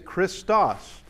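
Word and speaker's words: Χριστός: See if you can, who can pronounce this word. Yeah, that actually, it is the word for Christ. It is Christos, is what that is.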